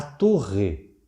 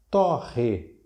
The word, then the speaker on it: torre: Temos ainda, por exemplo, a torre. Olha o timbre fechado, a torre. E talvez eu torre os amendoins.